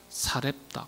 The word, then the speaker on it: 사렙다: 엘리야 선지자가 하나님의 명령을 따라서 사르밧 아 사르밧이라는 동네로 원래는 이제 원문을 보면 사렙다라고 발음을 합니다. 사렙다 그렇게 번역해도 될 텐데 사르바이라고 번역을 했어요. 원문 발음은 사렙다입니다.